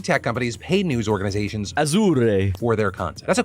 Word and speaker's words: Azure: I think it's Azure, like Asher Roth, but with a hard S.